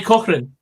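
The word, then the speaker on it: Cochrane: so gorgeous help me out here mate arie coach reign oh harry cochran there we go that's the one he broke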